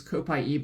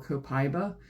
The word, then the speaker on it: Copaiba: Next is Copaiba or Copaiba, depending on how you want to pronounce it.